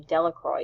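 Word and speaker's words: Delacroix: Harry Jones and Dicky delory the villagers pronounced this name Delroy evenly eventually made a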